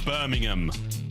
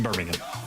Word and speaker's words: Birmingham: And it's and you say it right and it's Birmingham. Not not Birmingham. Not Birmingham. There's no There's no B. Don't pork involved. It's It's Birmingham. Birmingham. I know English is very complicated language.